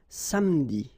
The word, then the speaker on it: samedi: Okay, same thing here, appeler, but then you get appeler, appeler, and then samedi.